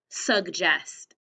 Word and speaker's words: suggest: So let's do the first syllable. Sug. And let's do the next one. Jest. J. Sounds like a J, but then it's followed by an eh.